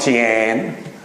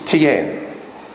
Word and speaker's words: Tian: It's not Tian. That's how the Australians would say it. It's Tien.